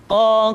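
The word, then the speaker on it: ق: Berikutnya pengucapan huruf qa. Huruf qaf diucapkan dengan cara menyentuhkan pangkal lidah kita dengan langit-langit bagian belakang.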